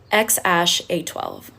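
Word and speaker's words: X Æ A-12: his name really made headlines and it is pronounced X Ash A12.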